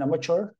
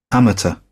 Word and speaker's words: amateur: If you are doing something as an amateur, you are not being paid for this. The pronunciation can be in two different ways.